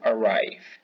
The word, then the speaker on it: arrive: Esa V se pronuncia con los dientes sobre el labio inferior. To arrive.